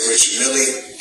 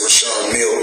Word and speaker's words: Richard Mille: Some say Richard Mille, myself, I say Rashard Mille, because that's what I was told in 2012 when I first purchased the watch.